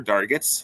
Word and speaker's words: Dargatz: Just to give a little background, my name is Dargatz. Last name rhymes with targets, so it really works well for those learning targets you have in your classroom. Dargatz targets works out really well.